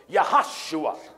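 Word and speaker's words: יהושע: son of none yeah in Hebrew there are no JS in the Hebrew alphabet that's right so the name Joshua and Hebrew is pronounced yahoshua the English translation of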